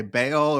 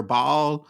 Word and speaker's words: Baal: I'm going to say Baal or Ball, but one of the two, because you can pronounce them both ways. So, Ball and the gods of more, your new book.